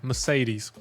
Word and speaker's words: Mercedes: I w Mercedes po angielsku każde e brzmi inaczej. Mercedes.